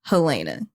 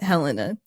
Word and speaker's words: Helena: Also, my name is pronounced Helena, not Helena, but I totally get the confusion.